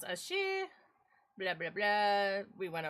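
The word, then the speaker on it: 四: Extremely unlucky is pronounced as she.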